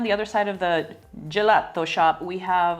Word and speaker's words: gelato: Let's say it correctly, like we're in Italy. Gelato.